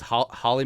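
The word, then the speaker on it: Hawley: People get really upset because it's Holly, Minnesota, even though it's spelled Howley, because we like to go with the Dutch pronunciation on everything.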